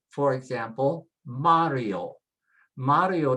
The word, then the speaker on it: Mario: Mario doesn't have an accent, and so it is pronounced with next to the last, Mario.